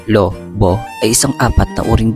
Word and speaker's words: Lobo: Niyo ba alam na ang Lobo, Batangas ay ang pagbigkas ay Lob Boy ay isang apat na uring bayan sa lalawigan ng Batangas ng Pilipinas.